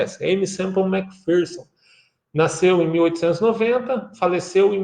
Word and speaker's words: Aimee Semple McPherson: Você talvez ouve diversas maneiras dessa pronúncia, né, mas nos Estados Unidos, onde desenvolveu a sua vida, a pronúncia é essa, Aimee Semple McPherson.